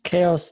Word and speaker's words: CHAOSS: know better no yes chaos is the correct way to pronounce it the chaos project mhm